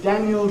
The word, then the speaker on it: Daniel: of phonetics here was Daniel Jones well if people call him not Daniel but make that e in this last syllable into a clear vow instead of reduction right if they actually